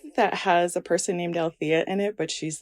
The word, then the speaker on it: Althea: So you are Althea, right?